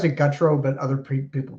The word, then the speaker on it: Gutro: I pronounce it Gutro, but other people pronounce it however they want, so that's fine.